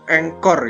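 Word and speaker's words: anchor: adalah a spasi ya A itu engkor ya engkor tulisannya seperti ini ya engkor ya dibacanya engkor ya itu A itu adalah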